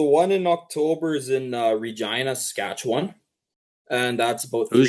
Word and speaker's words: Regina: So the one in October is in Regina, Saskatchewan, and that's about Who's 3 hours Gina? for me. Okay, never Regina. mind. No, I know it rhymes with fun or rhymes with divorce.